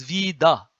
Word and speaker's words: vita: So he wrote the pronunciation you see here. So alpha, vita, he wrote it as vida.